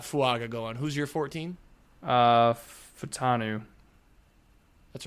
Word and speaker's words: Fautanu: At 14, I have the Saints taking Troy Futanu. Is that how you pronounce it? The Washington O-lineman? I think it's Fautanu.